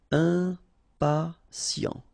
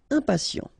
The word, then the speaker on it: impatient: Okay, remember, final T not pronounced. And then you've got this T, I, and a vowel, so sien. Sien. Impatient. Impatient.